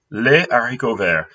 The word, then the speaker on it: haricots verts: de terre, le steak, les haricots verts. Do not have liaison for this one. Don't ask me why. It's just not the way you pronounce it.